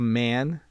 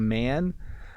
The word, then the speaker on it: man: So I am a man. You can hear the A sound coming out. I am a man.